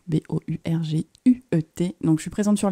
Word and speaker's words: Bourguet: moi je m'appelle Bourguet ça s'écrit B o u R g u e t et bah oui c'est important parce que sinon ça fait Bourger et ça on l'